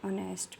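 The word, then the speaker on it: honest: अगर कोई लफ्ज़ एच से शुरू हो और एच साइलेंट हो और इसके बाद वॉल लेटर हो तो फिर इस लफ्ज़ से ऐसे लफ्ज़ से पहले एन लगाएंगे। एन आर, एन ऑनेस्ट मैन, एन आर।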